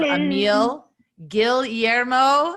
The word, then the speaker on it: Emil Guillermo: We have Emil Guillermo. I believe I'm pronouncing it correctly. Very good. He said the L and the Y.